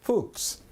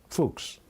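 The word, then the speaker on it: Fuchs: spiritual advisor that's German how do you pronounce that fols okay fuks okay that's Dr Paul fols whose criminal complaint against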